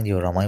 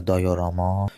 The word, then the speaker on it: diorama: خب رسیدیم به باز کردن دیورامای باحال. اول یه نکته بگم که تلفظ دیوراما یا دایوراما جفتش می‌تونه درست باشه. من تو جاهای مختلف دیدم هر این د تا تلفظ استفاده میشه.